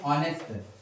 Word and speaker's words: honest: ऐसे ही हम एक और शब्द देखते हैं ऑनेस्ट, HONEST, यहाँ पर भी एच साइलेंट है, इसका हिंदी उच्चारण ऑनेस्ट होता है, इसलिए हम यहाँ पर एन लगाएंगे।